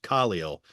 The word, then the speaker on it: Khalil: Khalil. It is now changed in Pro Football Reference with the emphasis on the first syllable.